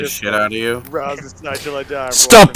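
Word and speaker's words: Ras Nsi: Rasnusai is the proper Hold on.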